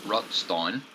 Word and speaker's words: Rutstein: ashes on honest ruts rut rutstein I keep getting his name wrong uh yeah get rid of the r rutstein anyway the honest guy